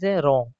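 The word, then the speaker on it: wrong: यदि आर से पहले और एस के बाद डब्ल्यू हो तो डब्ल्यू साइलेंट होता है। फॉर एग्जांपल के लिए रॉन्ग। दोस्तों यहां पर आर से पहले डब्ल्यू है इसलिए डब्ल्यू साइलेंट यानी डब्ल्यू को नहीं पढ़ा जाएगा।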